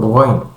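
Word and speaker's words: غين: dan wau saja kemudian kesalahan selanjutnya yang terjadi pada pengucapan huruf gin yaitu tidak mengalirkan huruf ghain. Karena huruf ghain itu adalah huruf rukhawah. Artinya suara yang terdapat pada huruf goin itu, terutama pada huruf goin sukun dan tasdid harus mengalir sebanyak-banyaknya seperti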